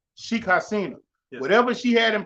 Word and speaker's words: Sheikh Hasina: What her name is, how you pronounce it? Sheikh Hasina. Sheikh Hasina.